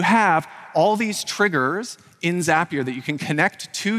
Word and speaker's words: Zapier: and I love zapier it's not zapier it's zapier their their uh marketing department wants me to tell you it rhymes with happier and that's true so